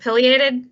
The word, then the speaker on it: pileated: I'm probably going to mispronounce this, even though I've heard you say it. Pileated?